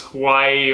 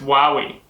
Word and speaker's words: Huawei: actually i need to look at how to pronounce because we all thought it was hawaii or huey or something but it's apparently pronounced while we so um we've got this huawei brand tablet